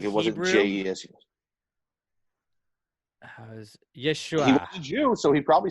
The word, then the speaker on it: Yeshua: i'm so he probably Yeshua Yeshua which is kinda like Joshua which is kind of